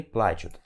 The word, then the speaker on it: плачу: detalhes para falar que a pronúncia correta é я плачу. Então a sílaba tônica vai aqui no A. Você pronuncia я плачу. Esse A aqui ó, tem que ser bem grande, tá? A força vai toda nele. Então você vai falar я плачу.